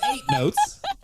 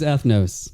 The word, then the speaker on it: Ethnos: It's not eight. We got a real agricola agricola situation on our hands. It's eighth notes. You are right, JK. It is ethnos.